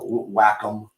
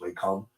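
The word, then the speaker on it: Wacom: There's uh Whackom should be pronounced way com uh the Cintiq.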